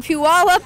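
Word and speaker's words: Puyallup: salon and pul up is that how you say it PE up Pew up Washington pulley up Pew up okay Pew up Washington I couldn't say it until I moved to Western Washington and everybody was like you're saying it wrong like oh no so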